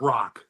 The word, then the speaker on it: Edelbrock: Yeah, Sounded Edelblock. like it. Yeah, and it's mispronounced- Edelbrock.